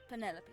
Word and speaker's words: Penelope: Is I that love short her for Penelope? very much. Officially, yes, but I never can be bothered with all 4 syllables of it. Penelope sounds a little ostentatious coming out of the mouth, don't you think?